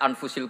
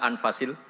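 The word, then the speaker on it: أنفس: Di sini ditulis anfusil kutub. Kalau saya baca anfasil kutub karena maknanya kitab ter baik. Kalau kitab terbaik bacanya bukan anfus tapi apa? Anfas.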